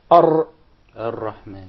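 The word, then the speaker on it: الرحمن: If you remember, that was your example when we said that the unwanted repetition or rolling of the Ra. So say, Ar-Rahman. Actually, you pronounce several Ra. It wasn't just one. It said Ar.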